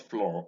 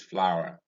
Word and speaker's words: flower: in our in flower this is flower and it is not floral i have heard many nigerians pronounce this with us flor this is flower and you can see